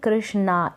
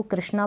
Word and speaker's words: कृष्ण: यहाँ पर आप देखेंगे कृष्णा, ए लगा है लास्ट में, लेकिन कृष्णा ना पढ़ के मैं इसको कृष्णा पढ़ूंगी। कृष्णा भी पढ़ते हैं तो गलत नहीं होता है, तो कृष्ण यहाँ पर मैं इसको प्रोनाउंस कर दूंगी।